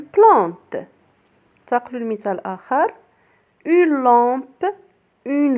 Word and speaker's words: lampe: L plus on se prononce long comme une lampe.